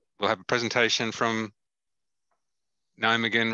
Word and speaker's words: Nijmegen: Get here and to go to Nijmegen. How do you say that again, Martin? Nijmegen. Yes. Nijmegen. Nijmegen, isn't it? It's Nijmegen. Nijmegen.